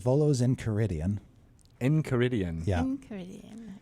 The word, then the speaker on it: Enchiridion: And how do you pronounce that section? So it's called Volos in Caridian. Enchiridion.